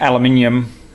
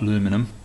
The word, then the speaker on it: aluminium: crash it whether an aluminium that's the proper way to say it by the way not looming them and our minion one